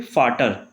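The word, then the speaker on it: Vater: Last में आएगा हमारा यहाँ पे फाटर, इसको क्या पढ़ेंगे फै पढ़ेंगे, तो फाटर, इसको फोगेल।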